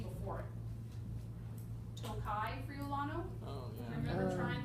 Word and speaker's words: Tokaji: that it grows in out of respect for Tokai, the sweet wine region from Hungary. That's spelled Tokaji.